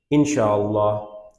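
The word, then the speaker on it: إن شاء الله: ঠিক আছে, এটা প্রপার প্রোনাউন্সিয়েশন হচ্ছে ইনশাআল্লাহ।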